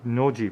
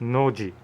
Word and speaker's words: Nozi: called noji it's actually noji but it's spelled nosy for some unknown reason in romanized script but in japanese it's pronounced noji there's also it looks